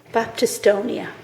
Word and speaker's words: Baptistonia: I always get this name wrong. Baptistonia.